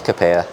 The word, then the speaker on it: King Capella: Because obviously, so with King Capella, am I saying it right? So I've been saying King Capella this whole time. I mean, I think it's Capella. Okay, it is.